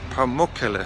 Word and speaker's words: Pamukkale: Okay, good morning here from Pamukkale. I've just been asking the guy in the hotel. It's apparently the correct way to pronounce it, Pamukkale.